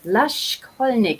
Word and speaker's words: Laschkolnig: Anyhow, I bring to you today a good friend of mine, Laschkolnig. Is that correctly pronounced, spoken?